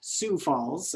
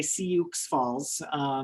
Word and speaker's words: Sioux Falls: Falls, also it's pronounced Sioux Falls. I know there's an X in Sioux, but it's silent.